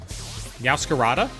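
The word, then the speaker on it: Meowscarada: Yowcarada. That that one's cuz it's like a masquerade.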